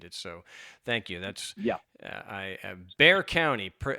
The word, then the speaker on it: Bexar: So if you take that and kind of take that X and turn it into an H, then it kind of makes sense.